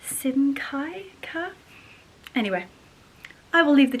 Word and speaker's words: Simkhai: So this is a brand called Simca. Hopefully I'm pronouncing that correctly. It's Simkhai. Simcaille.